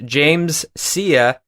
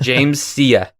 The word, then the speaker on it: James Sia: This actor's name is James Sia. I had to look that up because I was going to pronounce it differently and I was way off, but James Sia.